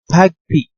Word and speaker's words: PAgP: with the the first protocol okay the pagp pronounced as tag p okay so a path d is a cisco